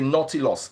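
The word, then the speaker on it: Nautilus: Sheeran Tiffany yes the watch is called a naughty loss n-a-u-t-i-l-u-s Tiffany the picture will show up you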